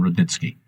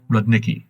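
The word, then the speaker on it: Rudnicki: friend and best interpreter Stefon Rodnitzki or Radniki as he pronounces his Polish name for Americans.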